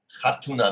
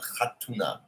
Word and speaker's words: Khatuna: Khatuna. Maybe that KH is a throat sound. Khatuna.